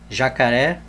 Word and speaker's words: jacaré: Exemplo: eu vou colocar aqui jacaré. Veja que quando nós separamos a palavra jacaré, a sílaba tônica é a última.